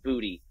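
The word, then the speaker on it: Boutte: about and that is k-shawn booty which we just learned that's how you pronounce it yeah that's an all-time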